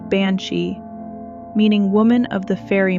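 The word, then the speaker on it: bean sí: The word banshee comes from the Irish bean she pronounced banshei meaning woman of the fairy mound.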